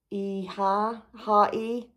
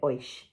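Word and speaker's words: Oíche: So that's the colourway, which I think is pronounced Iha. It means night, apparently, in Irish. I have absolutely no idea. I was calling it oish, clearly incorrectly.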